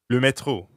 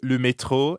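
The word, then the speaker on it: le métro: just means the and the french r is in the middle of metro so it sounds like you're clearing your throat ho excellent now let's plug le metro into something useful like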